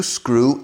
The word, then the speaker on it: screw: Quitas la S. Al principio, ¿qué tenemos? Crew. Tripulación de barco. Crew. Tripulación de avión. Crew. All right. La EW en inglés normalmente es U.